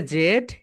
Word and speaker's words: Z: ব্রিটিশরা বলে জেড এন্ড আমেরিকানরা বলে জি।